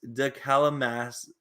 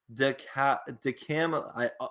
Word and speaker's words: DeCamillis: Number 3, Joe DeCamillis. It's hard. I'm sorry. Okay. I butchered his name. It's DeCamillis. DeCamillis.